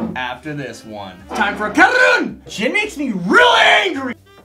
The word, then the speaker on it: Caorunn: They spell it out, it's Caorunn. What did I say? Caorunn! Oh, it's Scottish! Caorunn! It's Caorunn! That's what they say.